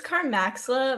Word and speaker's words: Carmaxlla: The user, it's Carmaxlla. My real name is Carmella.